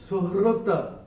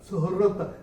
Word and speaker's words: सुहृत: और ये जो वर्ड है ये है सुहृत, सुहृत। तो ये जैसे हम हृदय बोलते हैं ना, हृदय, वैसे ये आएगा।